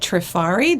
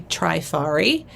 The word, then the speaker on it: Trifari: at the time and all the Reps always said Napier that's what they said they also said trifari they did not say trifari um so you know